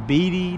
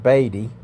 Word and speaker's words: Beatty: the sourdough saloon in bd nevada so we're gonna go in and check this place out okay as i'm enjoying my banquet beer i realized from the locals that it's pronounced baby but the sourdough saloon